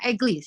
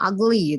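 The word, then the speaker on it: ugly: Vaart muka itu bukan eglis Allah Agung bacanya oi Iya jelek aku woi jelek a friendly atau buruk-buruk juga boleh bacanya Agli gitu ya bukan egli salah I Max estival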